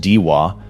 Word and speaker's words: Daiwa: Daiwa, pronounced Deewa, publishes maybe the most honest origin statement in the category.